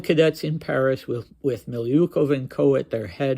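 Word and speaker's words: Milyukov: person is pavl or Paul milov I think that's where the stress is and Al not just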